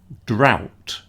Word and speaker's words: drought: Ignore the gh in the middle.